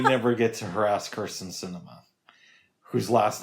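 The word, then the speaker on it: Sinema: I may never get to harass Kirsten Cinema, whose last name rhymes with enema. Actually, it doesn't. But it doesn't. It sounds more like cinnamon.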